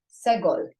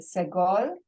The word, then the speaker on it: segol: And that is what's called a segol. A segol, and I'm going to my lesson booklet here, has 3 dots, and it's pronounced eh, as in red.